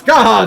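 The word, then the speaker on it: Scathach: Ah, Skaha is apparently how you say it.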